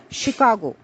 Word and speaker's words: Chicago: largest cities in U.S and the word is pronounced as Chicago the word with the spelling be r o